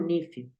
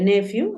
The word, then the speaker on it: nephew: Sobrino se dice nephew. A veces lo he escuchado como nephew. Se puede nephew o se puede nephew. Nephew corresponde a sobrino masculino, nephew. Nephew es sobrino. Lo voy a escribir aquí al lado para que lo recuerdes, nephew o nephew. Lo puedes escuchar de las dos maneras.